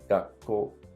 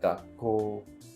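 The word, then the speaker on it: 学校: It's not gakko, but gakko.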